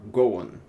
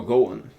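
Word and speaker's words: Gowon: that you're following General Cohan is it Cen or Goen it's it's actually G hell I mispronounce his name this whole time go go okay go imagine the true following General Goan he has been to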